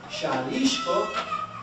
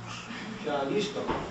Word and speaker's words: Xalisco: Now, in the 16th century, when Spaniards heard the SH sound in Nahuatl, such as this, Xalisco, it was natural to use the X. Xalisco.